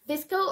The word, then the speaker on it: VSCO: Also, you could have the app Visco or VSCO, whatever you want to pronounce it.